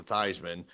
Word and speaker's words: Theismann: The only one that I can think of is Joe Theismann changing it to Theismann to rhyme with Heisman.